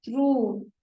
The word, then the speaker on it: through: Through. Once again, mark the pronunciation. It's through, not through.